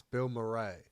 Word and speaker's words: Bilmuri: Side note, if you haven't listened to Bill Murray, I assume that's how it's pronounced. It's Bill Murray.